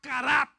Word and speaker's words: karat: Hay una palabra hebrea y aramea que se llama karat, con acento en la A, como si fuera cara, pero acento en la A, que significa intimar, intimar.